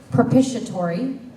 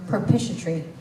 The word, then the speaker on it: propitiatory: correct number 110 Daniel your word has two acceptable pronunciations propitiatory or propitiatory propitiatory PR o p i